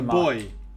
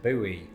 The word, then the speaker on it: buoy: prominent in the us equal disparity can be found over the pronunciation of a certain floating device used for navigation boy that's a boy right i think that's a boy underwater objects and eliciting the question what is that thing a boy can serve many purposes its biggest purpose though is starting flame wars between brits and americans the latter of whom usually pronounce it buoy but are you sick